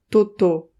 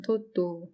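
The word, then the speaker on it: Totò: Il y a un accent sur le dernier O. Comment tu dirais? Toto. Genre ça redescend, quoi. L'acteur, non, ça redescend. Toto.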